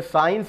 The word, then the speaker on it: science: तो ये इसमें SCIENCE, तो यहाँ पर भी हमने साइंस बोला, तो ये जो सी है यहाँ पर साइलेंट हुआ।